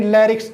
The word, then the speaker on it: larynx: तो इस स्वर यंत्र यानी लैरिक्स, LARYNX, लैरिक्स, इसका प्रोनाउंसिएशन लैरिक्स ही होता है, तो इसको स्वर यंत्र बोलते हैं।